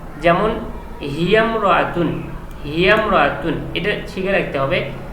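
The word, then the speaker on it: هي امرأة: এই যে আলিফটা আছে এই আলিফটি শুধু লেখায় আসে, উচ্চারণে আসে না। যেমন হিয়ামরাতুন, হিয়ামরাতুন এটা শিখে রাখতে হবে, হিয়া ইমরাতুন নয়, তখন বলতে হবে হিয়ামরাতুন, হিয়ামরাতুন।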